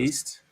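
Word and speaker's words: MrBeast: His name rhymes with feast. I don't know. You just gotta say Mr. who it is. Beast Beast, Mr.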